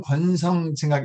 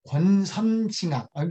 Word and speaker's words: 권선징악: 그 영화 중 권성징악 이렇게 발음이 안 됩니까? 권선징악. 제가 혀가 짧은지 오늘 처음 알았네요.